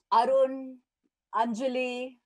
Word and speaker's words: Arunanjali: So even Indians find it difficult to pronounce it. So here it is Arunanjali.